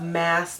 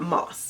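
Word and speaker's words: Maas: where she confirmed that her name is pronounced mass not Moss that would have to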